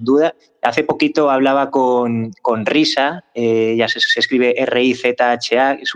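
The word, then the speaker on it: Rizha: Hace poquito hablaba con Risa, ya se escribe R-I-Z-H-A, es una artista argentina, pero vive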